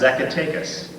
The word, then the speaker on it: Zacatecas: It's pronounced the way it sounds, Zacatecas.